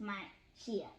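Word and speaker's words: Manhyia: The next day, they visited the Manshia, pronounced Manshia, Palace Museum in downtown Kumasi.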